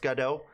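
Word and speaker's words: Godot: roadblock to them uh Goda is pronounced gado I know but I call it Go dot anyway because I I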